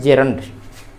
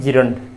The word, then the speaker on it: gerund: उनका एक नाम है जेरंड। कोई नया चीज़ नहीं है, हम लोग रोज इसका प्रयोग करते हैं। जेरंड, विद्यार्थी अधिकतर इसका उच्चारण कर देते हैं जिरंड, लेकिन जेरंड। तो जेरंड के रूप हमने